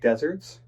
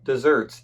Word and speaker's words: desert: Hey, do you like deserts? I love desserts, especially chocolate ice cream. No. Not desserts. Deserts. Places with sand.